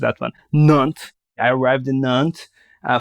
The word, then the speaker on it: Nantes: I completely butchered that one. Nantes.